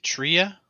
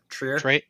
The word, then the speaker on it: Trier: Tria? Trier. Trier. Just think tree and then more tree. Trier.